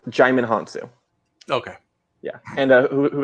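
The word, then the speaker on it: Djimon Hounsou: and matthew mcconaughey just making sure it is pronounced jaime hansu okay yeah and uh who better repeat mark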